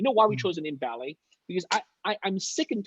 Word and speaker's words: Ballet: we chose the name balle balle pronounces the same in many languages it's like art from its female-friendly all these names are all geek all guys right we want to target more woman won't bring more women onto the space so not that it's a feminine name per se but we really wanted something that's easy for people to pronounce so it's ballet yeah and also not